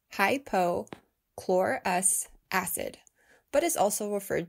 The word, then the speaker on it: hypochlorous: 20 20 then yes that includes covid19 it's pronounced hypo chlorus acid but is also referred to as electrolyzed